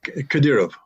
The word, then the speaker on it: Kadyrov: Kadyrov.